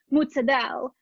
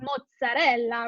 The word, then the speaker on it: mozzarella: words you know like it's not mozzarella it's mozadel but in reality it's mozzarella right in italian but the way